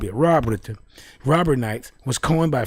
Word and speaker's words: Raubritter: Not Raubritter. It's Rob. Yeah. R-A-U-B, Rob. Yeah, Raubritter.